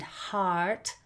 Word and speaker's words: heart: So hurt and heart are not the same.